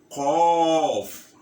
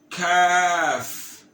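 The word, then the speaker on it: ق: Qaf. Qaf. Kaf.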